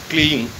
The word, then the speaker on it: क्लीं: और क्ली के ऊपर जो बिंदी है उसको भी मकार में बोला जाएगा, क्लीम।